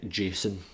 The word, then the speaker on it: JSON: to start by learning a jason is what we call it it's spelt like this